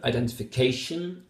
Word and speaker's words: identification: is identify and identification if you listen to the second word identification i emphasize k the most in that word so that would be